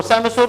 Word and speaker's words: psammosere: Then we have the सैमोसोर। सैमोसोर में P silent है, याद रखिएगा, PSAMMOSERE।